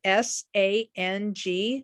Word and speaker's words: Sang: It's called Sang, which is spelled S-A-N-G, Sang, but not everybody has that kind of incense.